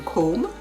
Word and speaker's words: comb: b is silent similarly the last b in comb c-o-m-b tomb t-o-m-b chrom c-r-u-n-d is silent silent seaworlds conscious c-o-n-s-c-i-o-u-s conscious the second